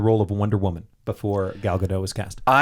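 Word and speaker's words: Gal Gadot: Galadot. Right. Right. That's how you say her name, right? I think it's so g I thought it was Galadot. Yeah, I think you're wrong. It's Galado.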